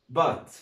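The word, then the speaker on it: bought: بعد كده عندنا بي او يو جي اتش تي اسمها بات، اسمها ايه؟ بات.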